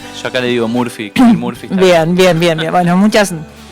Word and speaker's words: Murphy: La pronunciación. Yo acá le digo Murphy, Kevin Murphy.